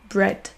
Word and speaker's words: bread: Il existe des exceptions comme le mot pain en anglais bread. Bread qui ne se prononce pas du tout avec un son I.